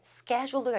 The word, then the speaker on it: schedule: 이때는 schedule가 일단 중요해요. 미국 발음은 schedule, 영국 발음은 schedule.